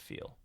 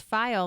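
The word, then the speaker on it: phial: But he called it a feel, and so I thought to myself, like, maybe we're supposed to be pronouncing it feel. Right. I'll have to listen to like an audiobook version of it. It sounds a little nicer, because file makes it sound like it's, it should be kept it's a folder in a filing cabinet, not a beautiful glass jar containing supernatural light.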